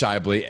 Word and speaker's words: Schaeuble: There are a lot there, but it's pronounced Schaeuble, and that's why I go by on my show, The Previously Heavy Dude.